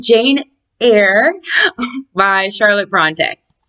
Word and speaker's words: Jane Eyre: Jane Eyre is how you're supposed to pronounce it. I always say Eyre because it's like a parody because she's like really angry at the beginning.